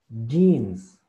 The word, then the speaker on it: jeans: los controles de mezclilla la pronunciación es muy similar a la nuestra solamente que nosotros hacemos lo que es directamente con la yo voy a llamarla con la y lo pronunciamos así con la y jeans jeans y jeans pero aquí como pueden